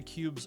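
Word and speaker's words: Qubes: One of the best privacy-focused operating systems is the Cube's OS, spelled with a Q.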